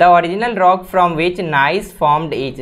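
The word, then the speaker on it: gneiss: The original rock from which nice formed is, nice एक rock का नाम है, यहाँ पे जी साइलेंट है, तो नाइस नाम का जो रॉक है उसका फॉर्मेशन किस रॉक से होता है?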